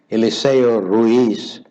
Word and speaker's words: Eliseo: got it right pastor it's pronounced eliseo now actually eliseo is the spanish equivalent of elisha in the bible oh is that so